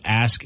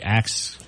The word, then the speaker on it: ask: Instead of ask, ASK, it'd be ax. Yeah. Or AKS, I guess is how you'd be pronouncing it.